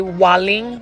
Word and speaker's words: Waling: It's called a Waling. Waling. It is spelled W-A-L-I-N-G.